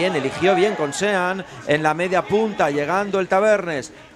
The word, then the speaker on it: Sean: Es una buena oportunidad para que dejemos de pronunciarlo en castellano y lo digamos como toca, Santi, que es Sean, que es inglés.